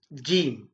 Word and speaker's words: ج: மீது வைத்து உச்சரிக்க வேண்டும் ஜீம் என்று நாங்கள் அதனை உச்சரிக்க வேண்டும் அதனை உச்சரிக்கின்ற போது ஜே சவுண்ட் ஆங்கிலத்திலே ஜேயினுடைய சத்தம் வெளிப்பட வேண்டும் ஜே என்று சொல்கின்ற போது